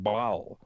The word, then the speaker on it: Baal: in the Old Testament, is words that is pronounced Baal.